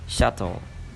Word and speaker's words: subtle: ហ្នឹងគឺទៅនឹងគេអានថាsubtle អញ្ចឹងបើសិនបើយើងអត់ចេះអានទេយើងអានថា subtle តែជាក់ស្ដែងអក្សរ B គឺ silent អញ្ចឹងគេអានថា shuttle អូខេអញ្ចឹងពាក្យបន្ទាប់ number 2គេថា catastrophe ពាក្យទី3 chemistry ពាក្យទី4 answer